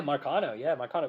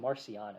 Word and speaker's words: Marcano: Yeah, Marcano, which, by the way, Caden calls him Marciano. It's like, that's not how you pronounce his name.